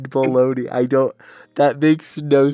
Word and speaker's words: bologna: bad what okay so why does that rhyme with boney english explain caught caught baloney to be honest i didn't even know how to spell bologna but i said baloney i don't that makes